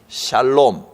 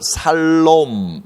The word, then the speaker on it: 샬롬: 이런 관계가 올바로 정리가 돼야, 정립이 돼야, 올바로 세워져야 여기에서 참된 샬롬, 화평, 성경에는 발음을 살롬 이렇게 적어놨습니다. 뭐 샬롬이라고 하든 살롬이라고 하든 히브리어니까 우리말로는 어떤 표기도 상관없습니다.